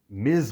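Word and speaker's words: Ms.: lawfully elected kamala khan ms marvel is how you say it miss marvel is the wrong way to say it so even though it's ms you pronounce the z sound what's significant about this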